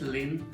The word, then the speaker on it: Lin: introduce myself because people ask me how to pronounce my name. So I just brief introduce myself. My last name is Lin, L-I-N, and first name Hsin-Chuen Lin is my full name.